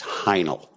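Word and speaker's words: Heinl: l and it's uh like the catchup like hind it's hinel l with instead of Z okay I was just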